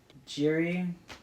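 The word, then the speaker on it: Jiří: We have Alex Pereira fighting Jiri. Do you have any idea how to pronounce his last name? Prochaska? Proyaska? I'll call him just Jiri. Well, it's actually Yuri.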